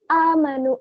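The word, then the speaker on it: آمنوا: Biasanya ketika membaca illalladzina amanu, amanu itu adalah alif, bukan ain.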